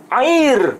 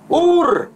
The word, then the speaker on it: Ur: Tapi di sini kan tidak tertulis air Kasdim, tapi tertulis Ur Kasdim. Pakai alef, bukan ain.